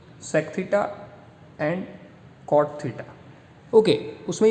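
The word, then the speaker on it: theta: देखा होगा, ऐसा सिंबल, ये, इसका नाम है थीटा। क्या नाम है? थीटा। मैं आपको प्रॉपर लिखता हूँ तो आप प्रोनाउंस कर पाओ, थीटा।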